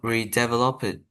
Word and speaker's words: redeveloped: Okay, so this is pronounced redeveloped. Okay, Redeveloped. okay, good. Redeveloped. Again, it's one of those ED words You don't need to say for this word developed. Okay, it's developed. Developed.